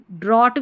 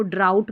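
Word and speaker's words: drought: इसको ड्रॉट भी तो पढ़ सकते हैं। इसको ड्राउट पढ़ना है।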